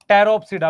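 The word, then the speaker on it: Pteridophyta: अब देख उसके बाद डी टेरफ सिडा पी साइलेंट है रोप सिडा में टेरिस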